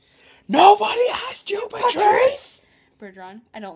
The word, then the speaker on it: Bergeron: asked you about Patrice Bergeron I don't like Bergeron pretty much anyone on Boston I just don't like but his name sounds like Burger on his first name was